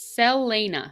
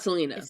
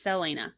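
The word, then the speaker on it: Celaena: so the main character's name is okay it's selena selena right so it's not salinas it's called no it's selena but it's spelled c-e-l-a-e-n-a so that's fine i don't like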